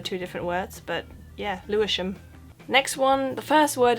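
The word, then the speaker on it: Lewisham: team Fulham next one again this is not Louis ham you know this by now it would be too easy have a guess and I'll tell you it's pronounced leam it's a weird thing when they do that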